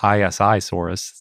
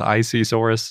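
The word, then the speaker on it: Isisaurus: Planet they go with icesaurus so that's what we're doing yep I kind of like that they say I at the beginning of it since it's isi yes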